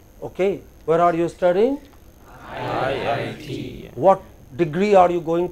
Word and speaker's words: IIT: You know, this is how abbreviations go. Stress on the last letter. You are studying at IIT. Okay. Where are you studying? IIT.